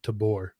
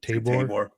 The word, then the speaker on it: Tabor: It was um the way I pronounce uh Mount Tabbor. Like I know everyone else says like Tabore. Yeah. Right. So I'm like Anthony shut up. I know I say it because it's kind of a German thing but um Yeah.